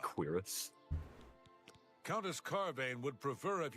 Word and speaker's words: cuirass: pronounced cuirass.